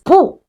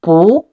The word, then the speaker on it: 不: Pronounce as bu. When bu is followed by a syllable in the fourth tone, it changes into the second tone, bu.